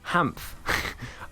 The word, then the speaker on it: HaaMF: It's pronounced HaaMF.